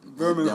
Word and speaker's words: Birmingham: Birmingham. Don't pronounce the H.